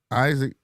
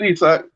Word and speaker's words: Isak: And what is Isaac Isak? It's spelled the same way. It's Isak. I know it's Isak.